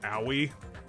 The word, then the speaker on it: Aoi: that podcast claims that the actual way to pronounce her name is owie which made me laugh her